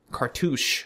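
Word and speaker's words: cartouche: in a row o cartouch carou you you got to cuz it rhymes with douche so it sounds very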